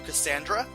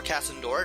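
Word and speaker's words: Kasandora: it is off to Cassandra or candora depending on how you want to pronounce it I'm definitely going to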